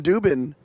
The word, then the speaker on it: Dubin: name is Adam and it rhymes with uh Rick Rubin Adam Dubin and is that your